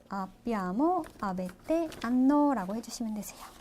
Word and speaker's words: hanno: 예, 이탈리아어에서 아까는 묵음이에요. 그래서 소리가 나지 않아요. 그래서 그 뒤에 있는 모음 그대로를 발음해 주시면 되세요. 그래서 o, I, a, abbiamo, avete, hanno 라고 해주시면 되세요.